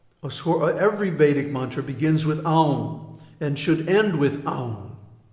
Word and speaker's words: Aum: secrets that the pranava, Aum, don't mispronounce it Om, because first of all, it has three letters, A-U-M, A-U-M, and each one gets a full beat. So it's not Om, it's Aum.